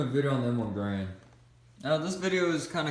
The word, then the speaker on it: Garand: This rifle was made by a man by the name of John Garand. That's the way you pronounce his name, and you'll sometimes hear people call it that, the M1 Garand.